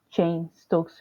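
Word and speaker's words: Cheyne-Stokes: and chain Stokes respirations hopefully I Pro I pronounce that correctly it is c h e y n e Stokes respiration chain Stokes respiration at a 50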